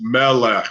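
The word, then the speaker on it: מלך: It's Melech. It's the exact same vowel under each consonant.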